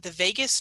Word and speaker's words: vagus: Was hoping to learn about the vagus nerve. Yeah. Hoping I'm pronouncing that right.